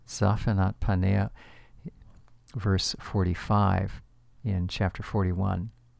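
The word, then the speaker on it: Zaphnath-paaneah: Joseph by the pharaoh it's recorded in the Hebrew scriptures as being pronounced zafat panea zafat panea verse 45 in chapter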